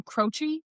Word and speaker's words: Croce: It is Croce. Croce. Awesome. Awesome. I guess I could have just asked them to spell it.